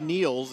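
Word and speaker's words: Nils: on it first name pronounced kneels as though you're taking a knee it's spelled n-i-l-s like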